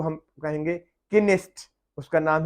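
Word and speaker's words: Knesset: के आ रहा है, तो उसको हम पढ़ेंगे किनेस्ट। वहां पे के साइलेंट नहीं है।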